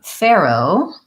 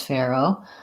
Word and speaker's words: Pharaoh: different contexts and then Pharoah is the way I would pronounce Pharoah with an again tense a with the air diphthong Pharoah again I'm not